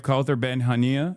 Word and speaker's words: Kaouther Ben Hania: And today we have Kaouther Ben Hania.